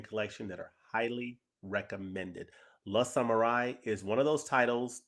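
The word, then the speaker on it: Le Samouraï: I did a review of La Samurai, not Les Samurai. I got a comment earlier today about pronunciation, so we'll try to do better about that.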